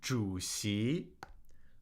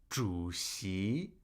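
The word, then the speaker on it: 主席: Here we have juicy juicy which means president of the state or chairman juicy juicy. Third tone second tone juicy.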